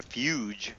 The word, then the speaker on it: fugue: I don't think yeah I'm not seeing a fuge i' I've heard of that before but I